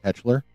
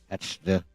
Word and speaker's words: Hetzler: Just like it's spelled in the Americanized version. Hetchler. I think the German is more close to Hetzler, like a cross between a Z and a CH, I would imagine.